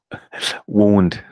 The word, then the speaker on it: wound: so how do you say it in England wound wound okay so these are blers for wounds